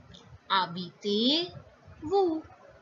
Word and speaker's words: habitez-vous: H is mute. So it is not habite, it is habite. So it is où habitez-vous?